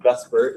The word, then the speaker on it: VSEPR: this is what the model is VSEPR it's pronounced bus Burt even though that's not really too Beavis suffer